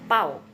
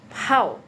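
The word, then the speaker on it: 泡: Nah, pinyin yang ada PAO-nya ini tuh bukan bacanya pau gitu ya, tapi pau.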